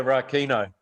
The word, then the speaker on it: Rakino: Is that pronounced correctly? Yeah, Rakino.